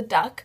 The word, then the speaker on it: DUC: with your friends to the duck which is spelled du not du k um it's stands for